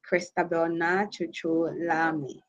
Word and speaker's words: Christabel Naa Tsotsoo Larmie: And as rightly said, yeah, even though the pronunciation of my name didn't go well, but it's normal because yes, and now it's Christabel Naa Tsotsoo Larmie.